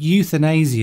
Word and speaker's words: euthanasia: Of course, it's spelt differently, but it's pronounced the same.